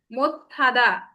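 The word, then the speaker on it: 못하다: তাহলে এটার উচ্চারণ কি হবে? মোত্থাদা। কেন? সিউত আর হিউত মিলে থিউতের উচ্চারণ হয়ে যায়, আর থিউতের উচ্চারণটা কি হয়? দীপ্ত হয়। থিউতের উচ্চারণটা দীপ্ত হয়, সেজন্য এটার উচ্চারণ হবে মোত্থাদা।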